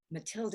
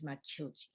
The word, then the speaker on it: Matilde: medicates matilda a machine matilda is the way the americans say it the brazilian way is machilchi it in comes lane's